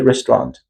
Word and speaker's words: restaurant: Restaurant we not restaurant. We do not pronounce like this. We say restaurant. Restaurant because the e and u sound is silent which we not pronounce them.